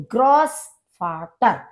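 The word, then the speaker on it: Großvater: दिखाई दे रहा है, इसका प्रोनाउंसिएशन होता है सा, जैसे सांप की आवाज होती है स, इस तरह से। तो इसलिए हम इसको बोलते हैं ग्रॉस फाटर यानी कि ग्रैंड फादर, दादा, नाना, इनको ग्रॉस फाटर कहा जाता है।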